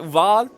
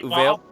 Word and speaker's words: Uvalde: Archimage, when we heard about the is it Uvalde? Is that how you say it? Uvalde?